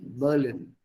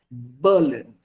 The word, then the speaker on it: Berlin: Auf Deutsch sagt man Berlin und nicht Berlin. Berlin is English. Berlin is Deutsch. Ich fahre nach Berlin. Berlin. Not ich fahre nach Berlin.